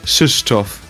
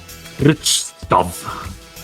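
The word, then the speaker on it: Krzysztof: Cybersmurf once met someone named whatever, proper pronunciation is something like Shishtov, and the name is like K-R-Z-Y-S-Z-T. What the fuck? Shishtov. Ridiculous name. I would say Richtov.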